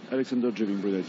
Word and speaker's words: Alexandre Jouvin-Brunet: Did I pronounce that right? Alexander Jouvin-Brunet, yes.